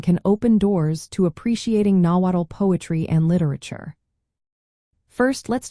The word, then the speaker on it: Nahuatl: How do you pronounce nawatt? Have you ever wondered how to pronounce nawatt?